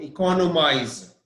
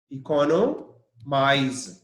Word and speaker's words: economize: cannot make economize know economize ec o and O economize and the stress is on CE o iko iko know economize